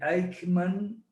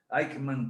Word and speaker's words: Aikman: equilibrio de poder mundial deivid aikman se pronuncia así se escribe como suena aikman conca 2003 jesús en